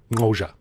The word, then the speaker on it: Xhosa: it means but yeah you pronounce it kosha and yeah it took